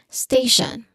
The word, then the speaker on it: station: That's how you pronounce the first syllable in this word stay. There is a clear dip thong here. This one that's a dip thong. All right. The second syllable is shan like sh hu and shan like shan in direction.